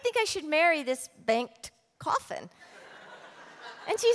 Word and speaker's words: Bengt: And she said, Bengt. And I said, what? And she said, Bengt. And I said, can you spell it?